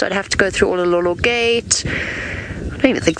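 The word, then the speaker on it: Oloololo: Olololo, the Olololo mountain range.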